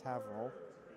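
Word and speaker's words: Haverhill: it's Bill ra and here it's spelled like Hill but it's haval and Salem New Hampshire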